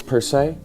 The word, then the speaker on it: Per Se: Yeah, my name is finger quotes per se. Okay, per se. So that's how you'd like it pronounced.